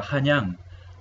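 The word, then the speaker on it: 漢陽: Joseon, y el nombre de la capital era Hanyang.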